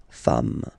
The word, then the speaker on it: femmes: and as we said, you don't pronounce it, so you get des femmes, okay? Des femmes.